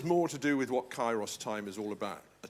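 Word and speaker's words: kairos: This is the term chyros. Chyros. And if you're fuddled about how to spell that, it's Ki Ai. K A I R O S. Kyros.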